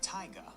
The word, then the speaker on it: taiga: It is pronounced Taiga. The word rhymes with tiger.